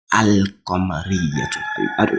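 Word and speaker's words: القمرية: The difference is in the lam. In the first one, if you can see, the lam is clear. I pronounced the lam. Let me pronounce it again and you see. Al-Qamariyatun. Have you seen that? The lam is out.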